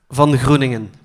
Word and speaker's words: Van Groeningen: Van Groeningen.